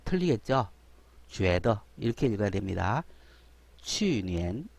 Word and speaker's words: 去年: 去年 이렇게 읽어야 되는데 추라고 읽으면 안 되겠죠.